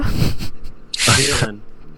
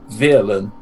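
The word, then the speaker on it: Vyrlan: If one was to elucidate without an accent, one would spell it with a V, a Y, an R, an L, an A, and an N. In that order.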